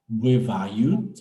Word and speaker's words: бывают: Attention avec U, faut prononcer pas beau, mais be, be, be, Buevayut.